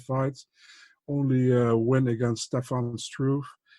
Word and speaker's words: Stefan Struve: fights, only win against Stefan Struve. I will pronounce it one time correctly, especially for you in Dutch, Stefan Struve. Stefan Struve.